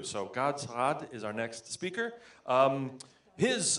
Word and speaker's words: Saad: Is that close? Saad. There's a little thing you have to do. So Gad Saad is our next speaker.